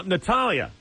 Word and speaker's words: Natalya: enter the contest now natalya yes am i pronouncing your name correctly yes you are thank you you said